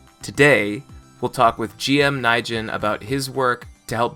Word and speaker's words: Naijin: GM Naijin, who is going to be talking with us